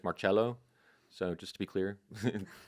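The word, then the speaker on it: Marcello: pronounced the name Marcelo the traditional correct quote unquote correct pronunciation is marchello so just to be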